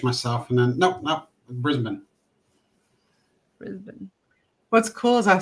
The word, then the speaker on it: Brisbane: pretty pretty small I guess they're going to Brisbane yeah flying straight in this time did I